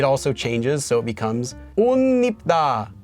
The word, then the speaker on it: 옷 입다: So normally the pronunciation for this is 옷 입다. So you would get 옷 입다. This is the right answer.